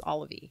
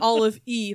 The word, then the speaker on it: Olivie: in The Ether and her name is olivey not all of e Oh I thought you were saying Olive e Blake yeah got it how do you spell that o l i v i e got it Blake um